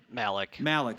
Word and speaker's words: Malik: Malik.